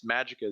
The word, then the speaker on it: Magicae: It's Magica is spelled Magicae. It's the Latin version, so it sounds cool, but marketing wise, people are like, "What do I type in?"